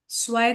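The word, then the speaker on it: zwei: I know सोसिक मतलब 21 फिर हम 22 के लिए देखेंगे अभी टू मतलब क्या था स्वय था स्पेलिंग जेड डब्ल्यू ई आई स्वय ऊंड डालेंगे ऊंड मतलब एंड एंड का जो तरीका है वो 21 से शुरू होता है।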